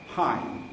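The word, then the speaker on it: Ohain: from Gottingen called hats spelled h-a-i-n pronounced hi is a very nice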